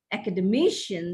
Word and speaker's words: academician: which is not correct make use of this derivational accent where accent shifts from one syllable to another syllable as you derive a word from you know a longer word from its root word look at this academy academic academician that's the right pronunciation of these words hypocrite hypocrisy hypocritical mobile